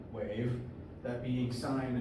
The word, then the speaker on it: sine: on your calculator and it is pronounced sign not sin so Define vibrations so